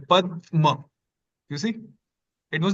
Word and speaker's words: Padma: In Pada, it was like a straight flow. Pada. But in Padma, we kind of paused here a bit longer. Like Padma.